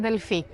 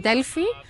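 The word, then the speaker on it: Delphi: also need to visit Deli people like to call it uh to pronounce it Deli it's actually Deli it's a softer softer words and um and of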